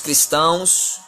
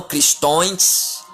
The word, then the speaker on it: cristão: e você já quer somos cristãos não cristões mas sim a pronúncia certa é cristão já tirei você Queremos